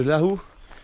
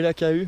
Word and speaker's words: Lahu: Donc c'est le village de Lahu, qui s'écrit Laku et Lakahu, mais on dit Lahu.